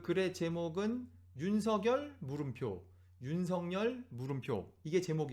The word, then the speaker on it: 윤석열: 마지막 문장이 이렇게 됩니다 그러다 보니 본인이 원하는 발음을 인지한 사람은 윤석렬 로 발음하고 그렇지 않은 사람은 표준 발음대로 유인석 열로 발음하고 있는 것이다 이게 마지막 문장 이에요 그러니까 순전히 국어의 규칙대로 하면 윤석열 이 봤는데 본인의 의사를